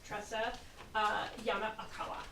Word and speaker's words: Tressa Yonekawa: Please help me in welcoming Tressa Yonekawa. Thank you, and that was spot on. I spelled it out phonetically for her.